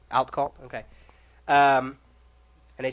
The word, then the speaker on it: Outcault: How do you pronounce it? Outcault. Outcault, okay.